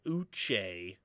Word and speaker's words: Uche: Mr Beth Uche that's how they say it Uche getting a little pressure oh beating Quisenberry yeah